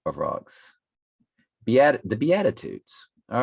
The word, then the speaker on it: Beatitudes: the beauty tides the bayou how do you pronounce that um the euditides is what's flashing in my head but that's